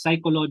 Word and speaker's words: psychic: of Psychological s so pag pronounce mo si psychic Okay parang you're starting with the letter s psychic siya So probably yung